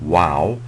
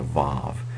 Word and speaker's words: vav: of of modern Hebrew now originally it may have been pronounced a little bit more like a w um but um um I'm going to give you the uh the modern Hebrew pronunciation of the letters and so I'm going to call it a VAV and I'm going to transliterate it uh with a V uh instead of a